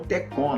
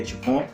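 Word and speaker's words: T-CON: Eu encontrei o problema na placa TICON, né? Que algumas pessoas chamam TECON, né? A pronúncia certa do T é TICON.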